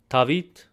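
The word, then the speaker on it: Դավիթ: In West Armenian, it's Tavit. In Eastern, it's David.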